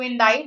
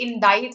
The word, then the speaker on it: indict: So to indict someone, the C is silent there.